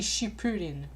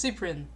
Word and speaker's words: Cyprien: It's obviously Shipurin, Mimi replied. No, it's Shipurin, Yuko said. You're both wrong. It's Cyprien, Yui corrected.